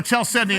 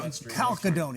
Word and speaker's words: Chalcedony: I'm just going to go Chalcedony and thank you PB. for pronouncing it correctly, thank because there was a newscaster yesterday on Detroit. Who said Chalcedony, didn't he? I don't know. Calcadony.